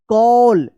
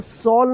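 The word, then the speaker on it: call: Main rule ये है कि ए के बाद जब डबल एल रहता है तो ए का औ उच्चारण होता है।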